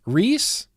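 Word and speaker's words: Rhys: passion black current passion Rees oh RH Ys is pronounced Reese is it really really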